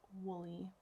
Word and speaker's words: Wullie: War Willie and yes I did pronounce and spell that correctly on the title slide or Wooley w UL li e I actually look it